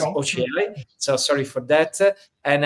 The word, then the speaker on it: Ochiai: I told Ochiai, but it's Ochiai.